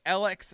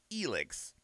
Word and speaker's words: Elex: now i i realize we did a trailer during the initial like reveal for this and i was pronouncing it alex and i have been corrected because apparently the